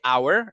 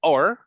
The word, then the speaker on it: hour: version is our okay people say or but it's just it's just like a quick version of hour right like it's not like a different thing it's just that because people speak fast it sounds more like or right but it can